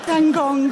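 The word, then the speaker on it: Van Gogh: came out as gong van gong the Americans pronounce Van goof as van go which always sounds like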